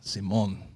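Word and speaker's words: Simón: It's like we put the accent on the O, like Simon. Simon.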